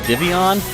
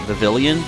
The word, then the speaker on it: Vivillon: Then it evolves into like a butterfly kind of thing called, I think it's technically pronounced Vivian, but I like to call it Vivillon sometimes because I think that might annoy people.